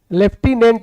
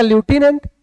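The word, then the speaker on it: lieutenant: लेफ्टेंट लेफ्टिनेंट इसे कहते हैं। ऐसे वैसे पढ़ा जाएगा लूटिनेंट लेकिन पता नहीं क्यों प्रोनाउंसिएशन में एफ आता है लेफ्टिनेंट गवर्नर।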